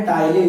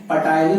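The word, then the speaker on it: ptyalin: Enzyme की बात करें तो यहां पर एंजाइम आता है टाइलिन, यहां पर पी साइलेंट है, पटाइलिन नहीं बोलोगे, टाइलिन कहोगे।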